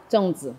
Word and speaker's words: Zongzi: Zongzi, exactly.